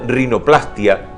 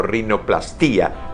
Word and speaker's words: rinoplastia: reparación de la nariz, corresponde aclarar que la pronunciación de estos vocablos debe ser con mayor fuerza en la primera A de plastia y no sobre la I de angioplastía o rinoplastía, pues no va y es muy bueno leerlo.